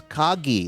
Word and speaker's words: Kagi: In October 2025, Cameron started a new job at Kaggi. That's Kagi with a hard G.